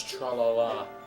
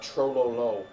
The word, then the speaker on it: Trololo: So, But you know, O's in Russian it's a thought are that usually counts, I pronounced guess. as A's, so really it's tra-la-la, not tro-lo-lo.